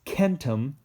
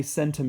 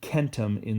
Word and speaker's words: centum: 100 is Ken t'm you're gonna want to say centum because of century and stuff like that but it's gonna be Kenta min this in the Latin it's always a hard C sound and then a thousand